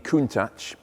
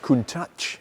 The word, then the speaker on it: Countach: last few days and this is a Lamborghini Countach that is the correct way to pronounce it by the way after decades of